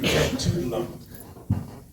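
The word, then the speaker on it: Etuaptmumk: So I put up my Anglophone-ized attempt at pronouncing that Mi'kmaq name, tugdalump.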